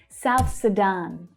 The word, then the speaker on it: South Sudan: South Sudan. South Sudan. Sudan. So the second syllable there is the stressed one.